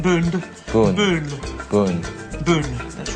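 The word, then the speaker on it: Boone: to be uh ridiculous and CJ gets some pronunciation lessons yeah not D not bo bo bo Boon that's right Pat Boon Pat boon with the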